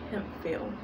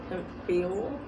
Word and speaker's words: Hemphill: name is hempfield now you can pronounce him fill with the ph making the f sound or him heal him